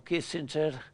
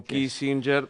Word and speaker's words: Kissinger: Dijiste así como al pasar viajaba en el avión con Jan Yani Anielli, con Kissinger, va lo pronunciamos en italiano porque en Estados Unidos es Kissinger, esos lo llaman Kissinger.